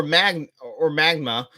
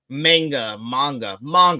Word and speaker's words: manga: Edge of Tomorrow is actually based on a comic or magma of the same name, I believe. You're 100% right, Magna. What did I say? I said it wrong. Manga.